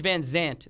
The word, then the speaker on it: VanZant: you but yeah page Van Zant they're not pronouncing it as a s it is a zed uh z z she's